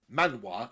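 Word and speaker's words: manhwa: one cuz it's actually a Korean manga or Mana as it's actually pronounced in Korean but it's animated by a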